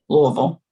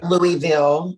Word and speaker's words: Louisville: what city is that louisville oh okay or louisville oh yeah yeah it depends on who you talk to how it's pronounced yeah i will say louisville yeah okay yeah so how